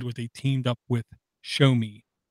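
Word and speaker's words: Xiaomi: they teamed up with Shomi which is spelled nothing like the word sounds like show me x io m IA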